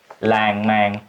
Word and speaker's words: lan man: Rất nhiều từ kết thúc bằng n mà tiếng miền Nam đọc là ngờ.